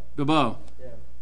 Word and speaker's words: Bilbao: And how do you pronounce the town? The name of the town? It's Bilbao.